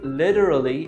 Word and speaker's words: literally: ما قدرتش فما بتستخدم كلمه ليترالي اللي بتتنطق كده علشان حرف التي جاي بين صوتين متحركين بنطقه زي الفلاب تي او بينتنطق زي الدي الخفيفه شويه فبقول له كده ليتر